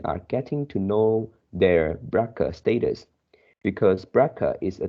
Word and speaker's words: BRCA: These findings have practical implication for women who are BRCA, pronounced BRCA, mutation carriers, since carrying these genes is associated with a higher risk for developing breast cancer, ovarian cancer, and pancreatic cancer.